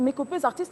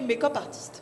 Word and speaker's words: make-up artiste: Alors, on va rencontrer cette make-up artiste, c'est make-upeuse artiste. Tu sais qu'on les appelle comme... C'est ça le terme. Artiste make-upeuse. Artiste make-upeuse, make-up artiste. Comment Mais la bonne prononciation, c'est make-up artiste.